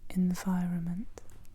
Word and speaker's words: environment: L'environnement l'environnement environnement environnement environnement l'environnement environnement on a volé le mot mais on l'a mélangé un peu en prononce ce mot comme environment environment environment Environment environment on nommé le N le deuxè N.